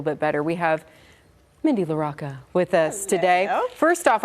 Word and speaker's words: LaRocca: Before you were like, Amanda, it's LaRocca, like The Rock.